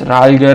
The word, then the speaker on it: ralger: My apologies for pronouncing this name wrong at the start. It is Ralger, and thanks to the developer for making this package.